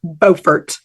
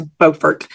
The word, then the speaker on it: Beaufort: I thought it was Beaufort b-e-a-u-f-o-r-t I thought that was Beaufort but no it's it's Beaufort and so I got